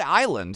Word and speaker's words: island: pronunciation Sophia the word island has always confused me should this be pronounced no the s in island is silent you just say a